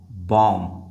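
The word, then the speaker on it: bomb: बॉम्ब बॉम्ब नहीं। बी जो है वो साइलेंट है।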